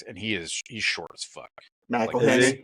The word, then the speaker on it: McElhenney: And then there's Rob McEwen sitting like right there next, and he's short as fuck. McElhenney.